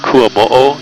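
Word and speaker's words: Kuamoʻo: The road's called Kuamo'o, it's spelled K-U-A-M-O-O.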